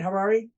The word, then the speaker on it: Harary: guest today is Dan Harari Harare huh am I saying it right Harare rhymes with Ferrari Ferrari Ferrari right the